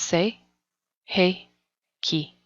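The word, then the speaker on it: Sei He Ki: second raiki symbol is the say hey pronounced say hey key this is the emotional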